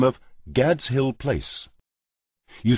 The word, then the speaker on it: Gad's: He moved into a large house by the name of Gad's Hill Place. You spell that G-A-D''S.